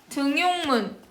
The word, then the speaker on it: 등용문: 등용문. 니은 첨가해서 발음해봐. 등용문 안 돼.